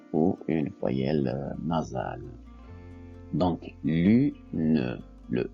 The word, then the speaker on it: lune: est prononcé à l'oral exemple lune lune l u n lune donc la syllabe orale